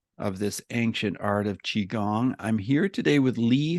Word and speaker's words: Qigong: it starts with the letter q and it's pronounced chiong and I'm here with an expert on this particular practice he's a master of this Ancient Art of chiong I'm here today with Lee Holden Lee are